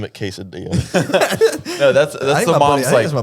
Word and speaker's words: quesadilla: Casadia. Quesadilla. Quesadilla. And that's Wait, Casadia is kind of cool. No, but is it pronounced quesadilla? It's pronounced quesadilla.